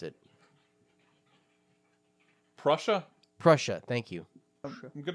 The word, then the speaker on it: Prussia: Red Army was advancing from the east east Persia or pers I can't pronounce it Prussia Prussia thank you I'm going to say false